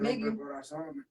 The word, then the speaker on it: Migue: How you pronounce it? Migue.